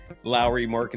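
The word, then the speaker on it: Lauri Markkanen: It's how that's how you pronounce Larry Markin his name.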